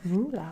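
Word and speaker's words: Roula: the same oh r-u-l-e no r-o-u-l-a ruler oh cool still sounds a bit like ruler landscape oh and like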